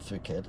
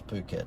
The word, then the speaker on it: Phuket: No, you've got to pronounce that right. It's not Phuket. I think it's Phuket.